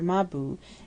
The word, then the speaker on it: Mabrook: Now that Ahmed is gone, who scolded them and drove them out, Mohammed's children, quite babies, are forever trotting after Mabou, as they pronounce his name, and he talks incessantly to them.